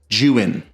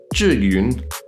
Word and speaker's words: Zhiyun: Zayun. Zayun. Zhiyun. Zhiyun. Jiyun. Jayun. Zhiyun. Jiwin.